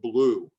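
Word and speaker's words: BLUU: lives of unitarian universalism b-l-u-u for short or blue as it's pronounced one of the things you'll see the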